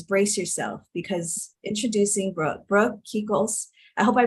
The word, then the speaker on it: Kekos: Brace yourself because introducing Brooke Kekos. I hope I pronounced your last name correctly.